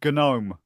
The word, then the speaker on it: GNOME: Also, it's a GIF and GNOME. Sort it out. GIF. If you wanted it pronounced GIF, spell it with a J, not a G. And gnomes are silent, as all gnomes should be.